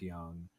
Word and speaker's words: Jung: So if you want some value, Jace Young, that's spelled Jung, by the way, and Will Warren of the Yankees.